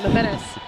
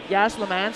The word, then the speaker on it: La Menace: La Menace. I keep wanting to say Yas La Mance because it rhymes. That's not right.